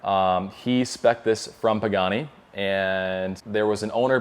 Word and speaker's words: Pagani: apparently i didn't notice it but i was pronouncing it pugani the whole night and it's pagani and i was with chris pagani which is